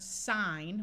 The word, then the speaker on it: sign: Like here we have the word sign with a long I and a silent N, and we add the suffix al and it becomes signal.